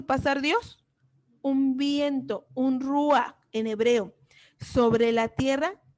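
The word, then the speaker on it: רוּחַ: Espíritu en hebreo se pronuncia ruah y en griego se pronuncia neuma.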